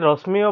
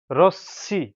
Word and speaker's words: রশ্মি: বন্ধুরা বন্ধুরা আমাদের এই প্রথম এই শব্দটি আপনি রশ্মিও বলবেন না, রোশনিও বলবেন না, এটি রশ্মি, রশ্মি, র তালব্য মফলা রসিকার, রশ্মি, রশ্মি। এখানে মফলা থাকার জন্য বন্ধুরা এই তালব্য দুবার উচ্চারণ হবে রশ্মি, রশ্মি।